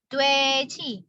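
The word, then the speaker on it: 돼지: Lalu ada vokal O dan E. Ini vokal gabungan dibaca sebagai W. Tulisannya W. Dua E gini ya, dibacanya dwe. Dwe dan Ji lagi. Dweji. Mungkin sering dengar ya. Oh, dweji. Dweji artinya babi.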